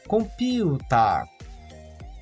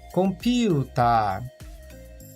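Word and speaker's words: コンピューター: A primeira é o maru na sílaba ri, aquela bolinha que transforma o som do ri em pi.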